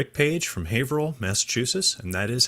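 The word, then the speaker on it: Haverhill: Rick Paige from Haveril, Massachusetts. And that is how you say Haveril, by the way.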